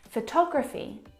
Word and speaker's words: photography: very strong at all now if you look at the second example photography you can hear the pronunciation is different and that's because the second syllable is the stressed syllable in this word photography o tog photography compare